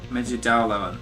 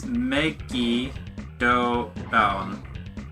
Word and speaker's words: Megidolaon: It's Megido Laon. Yeah, Megido Laon. Bit of a weird one. I always thought it was Megido, but it's Megido Laon.